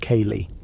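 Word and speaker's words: ceilidh: Historians still argue about the true life was the winter chain, pronounced kay, an informal gathering in a house for music, stories, and news.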